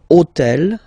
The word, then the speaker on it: hôtel: took on purpose this hôtel, okay, because it starts with H, but remember that in French we don't pronounce H. Okay, so basically the first sound of the word is the vowel O.